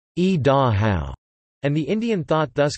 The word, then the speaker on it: Idaho: The Shoshone word is e-da-how, and the Indian thought thus conveyed when translated into English means, behold, the sun coming down the mountain.